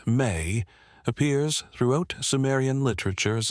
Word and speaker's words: me: The mi pronounced may appears throughout Sumerian literature as a fundamental category of existence.